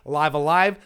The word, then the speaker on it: Live A Live: let's play this and they did actually say live alive so I'm gonna go with that pronunciation and stick with it okay another thing I